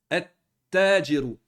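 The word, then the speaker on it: التاجر: On va le prononcer comme ceci. At-tajiru, at-tajiru. Sans le lem. Et on rentre dans la shadda.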